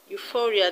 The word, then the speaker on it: euphoria: is on free schizophrenia euphoria the stress is on for you now let's go